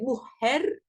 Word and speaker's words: mujer: Que le J se prononce comme un H en espagnol ou comme un H. Donc, c'est mujer ou mujer. Voilà, un peu comme ça.